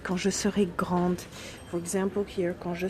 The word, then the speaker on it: grande: If it's a girl, she would add a E and pronounce the D. Quand je serai grande.